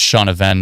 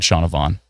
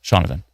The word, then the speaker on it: Shaunavon: Oh, it's Shaunavan, not Shaunavon. My bad. Shaunovan. Yeah, V naturally seems like Vaughn to me, but Shaunavan makes sense. I'll go with Shaunovan.